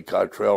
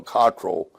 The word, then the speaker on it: Cottrell: Yes, like I told you a few minutes ago, you can pronounce my name either way, Cottrell or Cottrell.